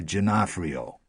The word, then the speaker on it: Giannafrio: "Teresa Giannafrio," he said. He pronounced it as an Italian would.